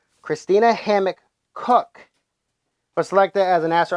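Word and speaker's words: Koch: oh cook sorry sorry I've been saying it all wrong even says pronunciation cook cook it's cook Kina Christina Hamilton hcock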